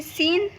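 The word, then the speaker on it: scene: जब एस के बाद सी आता है तो वहाँ पे सी साइलेंट होता है। जैसे कि सीन, तो देखिए यहाँ पे एस के बाद सी आया हुआ है, तो यहाँ पे जो एस होगा वो साइलेंट होगा। दूसरा है साइंस, तो यहाँ पे भी देखिए एस के बाद सी आया हुआ है, तो यहाँ पर भी एस साइलेंट होगा।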